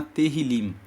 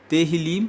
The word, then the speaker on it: Tehillim: O Salmo 65 faz parte do livro dos Salmos, que no texto original no hebraico se chama Tehillim. Se escreve T-E-H-I-L-I-M. Tehillim significa louvores.